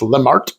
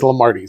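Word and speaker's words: Lemartes: I took French in high school, and in French it would be pronounced Lemart, but everybody usually says Lamarties.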